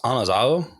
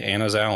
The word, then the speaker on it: Anazao: behind it okay so it's technically pronounced anaz because there isn't like a a sound in like that coin Greek which is really difficult so we pretty much all say anaza anyway just letting everyone know